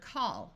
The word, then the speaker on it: call: For example, here we have A-L-L at the end of the root of the word call, so we use the broad sound of ah.